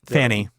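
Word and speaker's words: Pfannee: you shenen and um Fanny Fanny shenen and Fanny yes but it's spelled PF n n e of course it is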